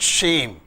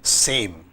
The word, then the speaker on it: same: word as such AME shame we call it shame s-a-m-e same same and shame totally two different meanings if